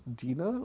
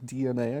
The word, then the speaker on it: DeNA: for the mobile games, DeNA, or DeNA, I think is how you say it if you want to be correct about it.